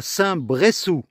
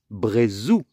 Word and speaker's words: Saint-Bressou: Après les leçons d'espagnol, alors en français, quand il y a deux S comme ça se prononce se. S'il n'y en avait eu qu'un S, ça se serait dit Brezou.